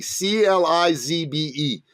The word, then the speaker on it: Clizbe: The author's name is Kent Clisby. It rhymes with Frisbee, Clizbe.